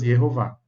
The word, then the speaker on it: Yehová: Com a letra O formaria direitinho as duas sílabas Yehová.